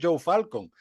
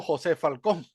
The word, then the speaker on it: Joseph Falcon: Claro que en verdad sería Falcón, lo que pasa es que la pronunciación del Sí, inglés es Joe Falcon, pero en verdad sería algo así como José Falcón.